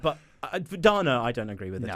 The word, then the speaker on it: Dana: And I only found out after recording the audio books that the English pronunciation for the name the girl's name is is Donna.